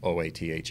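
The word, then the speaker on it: אות: oath in hebrew pronounced oath not like o-a-t-h in english but oath it's a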